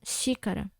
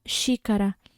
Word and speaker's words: xícara: Então, quando a gente fala xícara, o som remete ao som do CH, concorda?